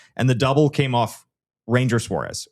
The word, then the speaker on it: Ranger: And the double came off Ranger Suárez, or Ron Her, as I believe is the correct correct pronunciation that he brought up in his Red Sox press conference.